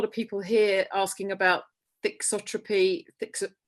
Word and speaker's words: thixotropy: But the aspect of this, a lot of people here asking about thixotropy, how do I pronounce it? Thixotropy. Well, that's American.